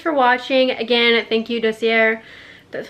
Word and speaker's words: Dossier: you so much for watching again thank you docier that's how you say it for sending me